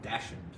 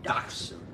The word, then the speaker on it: dachshund: always one from Jackson because it looks like it says dashing yeah but it's German dachshund dog yeah all right